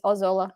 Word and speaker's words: Ozola: everybody butchers it and i just yes it's ozola whatever fair enough was was walla i like